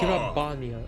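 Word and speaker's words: Gyr Abania: over the mountains of g abania once more gabia okay gabia I've been mispronouncing it whole time much like most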